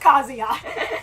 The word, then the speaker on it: Kazuya: with Sam too long I know it's pronounced kazia I've been living with